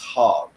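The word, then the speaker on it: חג: with that nonsense so it's it's called It's pronounced hog right so the the word the English word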